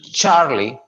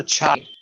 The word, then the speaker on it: Charlie: A as in alpha, B as in bravo, C as in charlie, यहाँ पर छ आ जाएगी, CH है तो चार्ली, D as in delta,